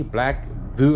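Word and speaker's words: BlackVue: best bang for the buck uh black view black voo uh v e v u e black Vue that's how you pronounce it black blue that's another one another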